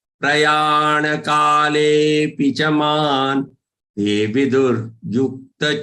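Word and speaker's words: प्रयाण: Prayana kale picha. Prayana. Don't say prayan. Prayana kale pi.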